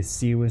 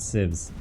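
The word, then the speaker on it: CIWS: It seems cramps are not getting through the seaw system on the res loot. It's quite strong there. I have finally learned how to pronounce seaw not civs.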